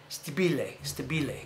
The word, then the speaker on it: Stabile: But I'm gonna say in Italian. Stabile. That's Steve. Just so you know, I'm sure you knew that, right? Stabile is the proper way to say it.